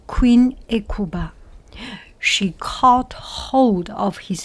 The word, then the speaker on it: Hecuba: She called H-E, I think H is not pronounced, does not pronounce, Hecuba, Hecuba, Queen Hecuba.